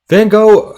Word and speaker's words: Van Gogh: So Van Gogh, I'm going to say it the American way, Van Gogh is really known for this piece right behind me, Starry Night.